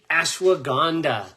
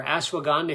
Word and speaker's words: ashwagandha: So I'm going to start right off with ashwagandha. Hopefully somebody who's listening knows how to spell that so they can get it in the chat box, but type in ashwagandha in the chat box.